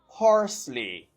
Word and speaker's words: parsley: Number two, parsley. Parsley. Ça c'est persil. It's still a two-syllable word with the stress on the first syllable and you say parsley.